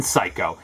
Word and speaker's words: Psycho: about as useless as the silent p in Psycho and the list would